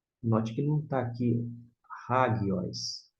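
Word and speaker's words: ἅγιος: Hagios. Note que não está aqui hagios, e sim hagios. Hagios, por quê? Aqui está a sílaba tônica, ó. Digo, a sílaba tônica é essa aqui, ó. Hagi, esse gi.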